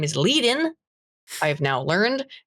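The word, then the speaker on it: Kuehnelt-Leddihn: His name is Leadin. I have now learned pronounced that way because Spoon showed me a rare lecture of his, because he died a long ass time ago.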